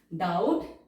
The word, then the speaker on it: doubt: हमने t के लिए, b हमारा साइलेंट है, d के बाद diphthong sound o w, doubt comma a great deal,